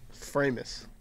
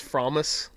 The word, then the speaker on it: Framus: the hoot and anny framus but I assume it's fromis fromus no you're right I said fromis and Perry looked at me like I have three heads oh okay yeah it's framus I had no idea